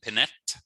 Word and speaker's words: Pinette: and Pinette and Pinette so you do pronounce the T it's not silent and Pinette Saskatoon berries are Li